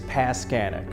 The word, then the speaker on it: Paskanik: your last name sure the last name is pascanic so rhymes with mechanic pass scan okay good